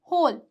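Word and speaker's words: whole: र है रूल देखिए कुछ वर्ड्स में डब्लू साइलेंट रहता है कुछ ऐसे वर्ड्स है जिसमें सामान्यत ही डब्लू क्या है साइलेंट है जैसे कि होल होल तो यहां पे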